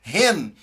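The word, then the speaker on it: חן: num e aí as nós pronunciamos em hebraico essa palavra como renda que é graça ou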